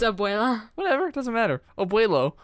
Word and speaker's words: Abuela: I just know the word Obuela from Dora. I feel like I'm saying it wrong, but it doesn't matter. You are. It's Abuela.